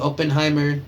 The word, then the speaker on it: Oppenheimer: Oppenheimer.